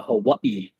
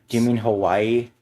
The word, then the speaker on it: Hawaii: Reminds me of the time I went to Hawaii. And then I went skinny dipping in a volcano. Do you Good mean times. Hawaii? No, it's Hawaii. That's actually how it's pronounced. Vowels are pronounced differently, you goddamn New Yorker.